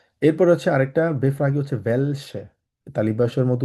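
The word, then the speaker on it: welche: এরপর হচ্ছে আরেকটা বেফ্রাগি হচ্ছে ভেলসে, তালিবাসের মতো উচ্চারণ হবে ভেল সে, তালিবাস ভেলসে, ভেলসে মানে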